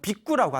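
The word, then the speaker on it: भिक्खु: 근데 머리를 깎고 출가하신 스님을 우리가 비구라고 부릅니다. 뭐라고 부른다? 비구라고 불러요. 저쪽 이제 원래 발음은 빅구라고 한다고 합니다. 빅구. 뭐라고요? 예, 발음 잘해야 돼요.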